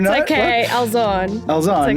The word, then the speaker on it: Elzanne: Today I'm joined by the lovely Elzanne Louw. Is that correctly pronounced? Kind of. Oh, It's no? okay. What? Elzanne.